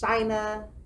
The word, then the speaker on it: Shynna: It's Shynna, so it's China, but with an S.